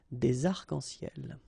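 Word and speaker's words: des arcs-en-ciel: Okay, you can see that as usual, we don't really pronounce this final S, so phonetically it's almost the same, but then we've got this liaison between the two, des arc-en-ciel.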